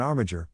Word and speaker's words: armiger: An armiger rhymes with integer.